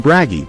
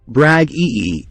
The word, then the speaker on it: Bragi: bragi in Old Norse the name braggy pronounced as brag ee means poet an edict